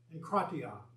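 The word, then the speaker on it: ἐγκράτεια: And the word is pronounced enkratia.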